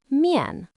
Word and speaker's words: 面: It is pronounced miàn.